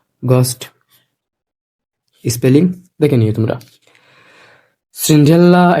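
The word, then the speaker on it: Cinderella: সিন্ড্রেলা, এটা এরকমই British উচ্চারণ।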